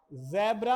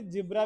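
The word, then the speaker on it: zebra: जेब्रा। आप इसे जिब्रा भी बोल सकते हो और जेब्रा भी बोल सकते हो। दोनों ही सही है बेटा।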